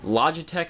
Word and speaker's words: Logitech: It was just the power cord, the system itself, and a Logitech, I believe it's pronounced, third-party controller with a copy of Gran Turismo 5.